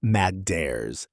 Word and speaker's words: matters: Another flap t example. Matt becomes mad dares in relaxed speech. If you're trying to sound more natural and less textbook, softening your TE's like this in casual conversation is one of